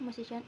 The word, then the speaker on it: musician: In the base word music, the primary stress falls on the first syllable. When the suffix is added to form musician, the stress shifts to the syllable immediately before the suffix.